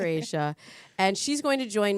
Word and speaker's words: Aesha: Because otherwise it looks like Dracia. It's not Dracia, Dr. Aesha.